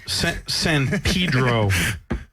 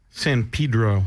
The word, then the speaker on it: San Pedro: I just wanted to pronounce that correctly. San Pedro. San Pedro.